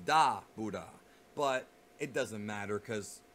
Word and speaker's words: Dabura: It's not Dabura. You don't enunciate the boo. It's Dabuda.